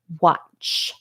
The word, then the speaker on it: watch: What number is the A? A, aw, wah. See my mouth? Wah. Watch. Number 3. Number 3 for the A.